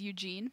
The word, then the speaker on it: Ugin: Excuse me, his name is Eugene. Oh, sorry, Eugene. Eugenius. That's literally how it's spelled.